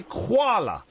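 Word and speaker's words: Kuala: you pronounce quala Lumpa is it quala or koala koala k k u a l a so you would say koala yeah qua that's brilliant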